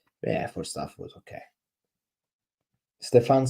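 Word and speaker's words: Stéphan: It's not Stefan. It's Stefan. He was the coach that led Rennes to win the French Cup.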